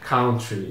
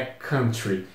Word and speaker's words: country: Não se esqueçam, pessoal, não se pronuncia country. Essa é uma maneira errada que os brasileiros falam essa palavra. É country.